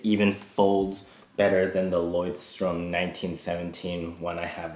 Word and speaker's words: Leuchtturm 1917: I would say it even folds better than the Leuchtturm 1917 one I have right here.